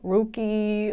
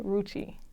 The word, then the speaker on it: Rucci: Rookie, like just crazy stuff. I see. So pronounce it one more time just to be clear. Renni Rucci.